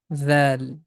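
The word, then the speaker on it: ذ: Remember, tip of tongue is touching with the edges of frontal teeth, and the small portion of the tip comes out from the mouth. Dhal.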